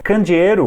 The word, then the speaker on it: candeeiro: Candeeiro ou candeeiro, dependendo do sotaque, é como se fosse um abajur.